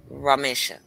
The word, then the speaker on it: Ramesha: eastern or something but it's ramesha no it's not asia okay a short vowel not a long vowel okay so ramesha ramesha there you go girl yeah with the accent on the issue yeah okay ramesha okay